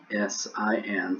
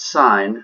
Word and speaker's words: sin: will actually write is s i n still pronounced sign not sin or c sine of